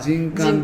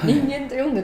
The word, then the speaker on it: 人間: なんですか人間と書いてああ人感人感バチさがははいあれが私も実は知らなくって人間と読んでたんですよあれはほと大学教授でも人間って読む人はいるんですけどもあのその人間っていうよ方も間違いじゃないんですけど中国